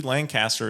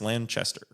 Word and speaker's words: Lanchester: a Lanchester lanter nope it sounds like it should be Lancaster it's Lanchester it's basically a copy of